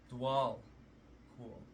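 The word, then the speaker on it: Djwhal Khul: Dwal Cool. Okay, that's how you say it. So it says Dwal Cool, also known as the Tibetan, is a Tibetan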